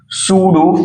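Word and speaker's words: pseudo: तो यहां पे इसको बोलते हैं बच्चों सूडो फर्स्ट ऑर्डर।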